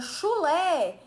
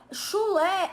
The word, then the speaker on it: chulé: eu tenho lá palavra chulé chulé é uma palavra oxítona tudo bem eu tenho